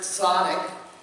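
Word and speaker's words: tzaddik: affairs that you're wearing is pronounced Sadiq and it means righteous person and to become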